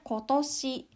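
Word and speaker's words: 今年: cukup artinya hari ini kalau dipasangkan dengan kanji tahun toshi menjadi tahun ini dibacanya kotoshi Terus kalau ditambahkan dengan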